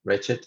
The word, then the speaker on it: wretched: No, aged, doge, ragged, blessed, learned, wicked, crooked, naked, wretched, yeah, wretched. In this case, you have to pronounce like that, aged, dodged, wretched.